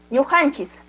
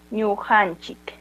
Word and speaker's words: ñujanchik: También recordarles que algunos pronunciamos como ñujanchis. Terminando con la S. No hay problema si lo pronunciamos ñujanchis. Puede ser ñujanchis, uta también puede ser ñujanchik.